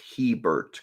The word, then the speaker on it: Hebert: with his dad Ricky your last name is pronounced Hebert correct he said yes if you go north